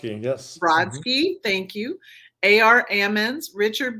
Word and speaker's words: Brodsky: his literary interviews which have included I can't pronounce can you tell me yes thank you Joseph broke wrote and wrote that Broski yes Brodsky thank you A.R Ammons Richard Blanco Evan Bolin